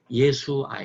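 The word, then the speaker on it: ישוע: 예수 라고 부르 잖아요 그러나 원래 유대인이 히브리어로 예수님은 부를 때 그 발음은 예 수 아 예 예 예 수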